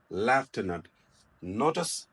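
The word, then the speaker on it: lieutenant: नस also military rank सीमस टू बी लटन बट इट न लन it left लेफट notice spelling A प्रस इ written S लटन बट इट प्रोना ए लेफ्टन and last ब न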